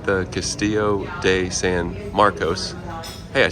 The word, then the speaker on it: Castillo de San Marcos: and cold perfect theming that looks like the Castillo de San Marcos hey I said it right uh but we